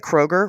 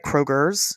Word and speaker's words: Kroger: They add It's like Kroger, right? Kroger's. They add that unnecessary s at the end.